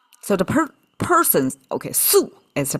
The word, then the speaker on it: 宿: So, the per- person, okay, su is the pronunciation.